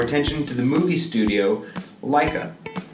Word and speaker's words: Laika: If Disney feels like Laika, is that how you pronounce Laika? It's Laika. Okay, well...